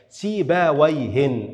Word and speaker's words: سيبويه: كلمة مثل كلمة سيبوي، سيبوي، سيبوي يعني هذا اسم مبني، مبني على الكسر، سيباويهن، هذا هو النطق الصحيح له.